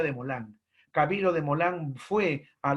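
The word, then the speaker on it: Desmoulins: llamado camilo de moland camilo de mola se escribe de small links se pronuncia de molango camilo de molan fue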